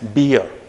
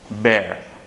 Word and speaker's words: bear: Yeah, most of the people used to pronounce this as beer. Beer. Because again, it appears like that. Beer. But this is not the correct pronunciation for that word. Okay, it's bear.